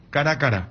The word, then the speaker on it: Caracara: Me aclara, él no hay acento en la última sílaba en guaraní. Entonces, perdónenme la ignorancia, por favor. Hay una calle que se llama Cacique Caracara. Caracara.